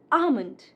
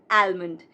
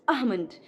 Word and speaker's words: almond: In this, also L is silent. It's almond, not almond. It's almond.